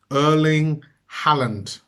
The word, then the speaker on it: Erling Haaland: replacement for a bearing and I want to pronounce his name correctly and it's Earling Halland from I believe it's Norway and absolutely fantastic